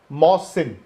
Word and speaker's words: Mohsin: नहीं, हम उस दिन बोल रहे होंगे, इट इज प्रोनाउंस्ड मोहसिन, हम बोलते हैं मोहसिन। ओह अच्छा, वो छोटी ही वो बोल रहे हैं, बड़ी ही लगाओ।